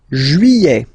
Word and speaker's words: Juillet: Juillet. Okay, you get this double L here. Juillet. Don't pronounce this final T, E-T here at the end. E.